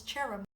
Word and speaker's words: tirim: So the weather in Irish is I'm sure the word for dry is cherum.